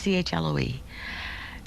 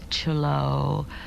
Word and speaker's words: Chloe: people my name is Chloe I love the name children couldn't pronounce it some adults would fuse to pronounce it and they called me cholo or Khloe or other things that were not Chloe um and my family